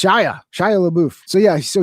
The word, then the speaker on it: Shia: So clearly Shil Shia is when they say Shila when they say his name they say it with an L, but there's no L in his name. It's Shia.